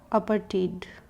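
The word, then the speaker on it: apartheid: आइए उसको देखते हैं अपर टीड यहां एज साइलेंट रखेंगे अपर टीट इज अ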